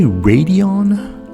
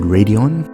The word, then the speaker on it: Raidillon: enthusiasts did you say radeon lux neophyte yes i said radeon because i'm an american and that's how we pronounce things anyways the video is